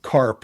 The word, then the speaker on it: Karp: What's his face's Alex Karp, Karp, like KRAP in Cincinnati. So Karp, like carp spelled like crap with it.